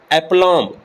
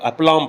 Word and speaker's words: aplomb: کی مکھیوں کا چھتا۔ ایپلام، سپیلنگ ہے APLOMB، یاد رہے ایم کے بعد جب بھی بی آئے وہ سائلنٹ ہوگا، ایپلام پڑھنا۔ کامل خود اعتمادی، مکمل